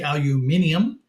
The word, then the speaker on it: aluminium: they pronounce aluminum now it goes back to some historical Roots When there actually was another syllable in the word so some places still say aluminium some places say aluminum